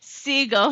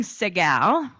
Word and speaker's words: Siegel: And yes, he did pronounce my name wrong. Instead of Siegel, he was saying Segal, which made me seem a little fancier.